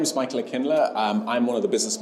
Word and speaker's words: Aklina: I'm here with Michael Aklina. Is that pronounced correctly?